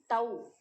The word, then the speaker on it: tau: So you have to pronounce as tau, and then tau equal to F into D.